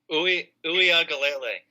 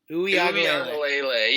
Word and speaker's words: Uiagalelei: I don't know how to pronounce his last name. Yeah, does anyone know how to say that? It's like Uiagalelei. Uiagalelei.